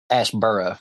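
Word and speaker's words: Asheboro: you Ash is not far from uh mayber Ash burrow Ash burrow oh burrow okay like south of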